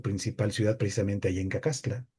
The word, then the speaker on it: Cacaxtla: ciudad precisamente ahí en Cacaxtla, o Cacaxtla, que sería la pronunciación correcta.